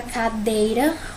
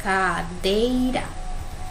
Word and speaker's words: cadeira: Aqui a palavra cadeira, o dei é a sílaba tônica mais forte, então eu vou circular. E aqui eu vou separar, cadeira.